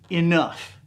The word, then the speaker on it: enough: about this the word enough e-n-o-g-h the GH sound is is an F okay enough GH when